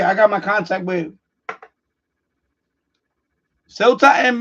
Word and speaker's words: Ceuta: Okay, I got my contact with Ceuta and Melilla. Wait, well, that's how you pronounce it, by the way.